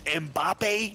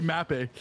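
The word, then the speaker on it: Mbappé: ] was lit oh yeah how do you pronounce it Mappy right how you pronounce it n mbappe it's mbappe no that's lit don't say mappe that's lit mbapp yeah listen don't everyone tell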